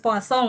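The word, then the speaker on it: Poisson: percaya e seperti contohnya proses poasong itu bacanya poasong enggak percaya mereka tetap baca poison padahal eh poisonnya beda tulisan dengan poison yang racun ya. Ee jadi bacanya puasong karena itu yang menemukan ahli Prancis gitu kan.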